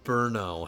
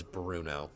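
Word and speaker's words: Brno: and Bruno in Berno. However, I when I did my Bohemian campaign, I just pronounced this as Bruno.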